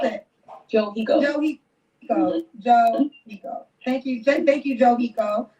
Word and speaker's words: Johyko: Then how you pronounce it? Johiko.